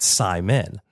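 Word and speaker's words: saimin: You know, I at the uh at the inception when we first bought the building, I intended on um maybe calling it Simon.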